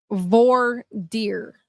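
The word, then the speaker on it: voir dire: fancy name when they do the Jone said V deer okay VOR deer makes sense okay thank you yeah so when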